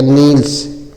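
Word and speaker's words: kneels: अगला है के N double E एल एस। के इस को साइलेंट कर दिया जाएगा। एन डबल ई है तो न पर बड़ी ई की मात्रा नी हो जाएगा और एल एस है तो आधा ल और स हो जाएगा नील्स क्या बोला जाएगा नील्स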